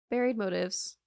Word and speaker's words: Buried Motives: Buried Motives.